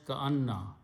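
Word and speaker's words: كأنّ: The combined meaning of this word, it is pronounced as ka'anna.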